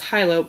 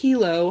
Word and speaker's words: Hilo: It is It's spelled I always said it was Hyo. It's not. It's Hilo Hattie.